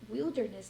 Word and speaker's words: wilderness: Aí aqui a gente já muda um pouco a pronúncia, vai para wilderness.